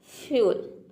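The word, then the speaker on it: fuel: यदि किसी वर्ड में ई यू अगर हो एक साथ तो ई यू को हम यू प्रोनाउंस करेंगे एक वर्ड में। जैसे कि देखिए यहाँ पे फ्यूल, एक का हो जाएगा आधा फ, और यहाँ पे ई यू का हो जाएगा यू, एल का हो जाएगा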